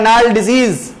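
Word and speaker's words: gnarled: Poet ने कहा है नाल डिजीज। जी साइलेंट रहता है नाल्ड डिजीज।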